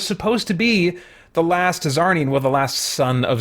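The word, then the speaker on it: Czarnian: far as I remember zarnian if that's how you pronounce it Lobo his race is c z a r n i a NS I can't remember what they said in I think it's zarnian they said in the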